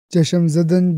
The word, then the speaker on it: چشم زدن: ہے ایک لمحے میں، تو درست تلفظ ہوگا۔ چشم زدن بغیر اضافت کے اس کا استعمال یوں